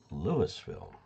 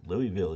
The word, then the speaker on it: Louisville: at the Front Range it's spelled the same as Louisville Kentucky but locals pronounce it Lewisville and that's how you can tell some somebody's from out of town if they say Louisville you know they really